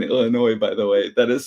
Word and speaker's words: Illinois: There is no L in Illinois, by the way.